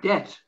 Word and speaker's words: debt: it's spelled there it's just simply debt so you can forget the d in that particular word also it's a